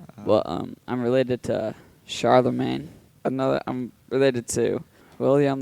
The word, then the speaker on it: Charlemagne: But, um I'm related to Charlemagne. Another I'm related to William the Conqueror. Oh, it's Charles Imagine?